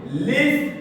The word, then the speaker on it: listing: Listing, c'est ici qu'on appuie. C'est ici. L'appui se fait sur la première syllabe.